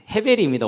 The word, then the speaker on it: 헤벨: 그렇게 더럽다라는 그게 아벨이에요. 헤벨입니다. 원래 히브리어 버는 헤벨. 근데 그게 이제 헬라로 넘어가면서 헬라는 앞에 있는 H가 발음면 안 돼요. 영어도 그런게 무음이 많죠. 그런 것처럼. 그래서 헤벨이 아벨이 됐고 그대로 그리스도를 라틴를 거쳐서